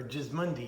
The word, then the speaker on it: Gismondi: Gismondi, or Gismondi is how they pronounce it, is my Italian family's last name, and Goffredo Gismondi.